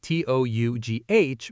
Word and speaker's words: tough: And tough is spelled T-O-U-G-H, but pronounced tough.